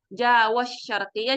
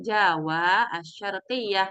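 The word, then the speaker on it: جاوة الشرقية: Nah, ee Rumiso untuk cara membacanya itu ee dipisah aja enggak apa-apa. Jadi askunu fi Jawa asyarqiyah karena itu sendiri adalah sebuah nama ya. Jadi kalau kita hasabungkan jadi jaw syarqiah jadi bingung nih rancu ya. Jadi ee cara membacanya askunu fi jawa asyarqiah karena wnya juga panjang.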